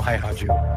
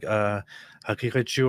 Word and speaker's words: Haqiqatjou: Well, I know that it's pronounced like Haqiqatjou or something like that, with like a softened guttural thing that is not really like the Arabic, but you can hear him say it in a little bit.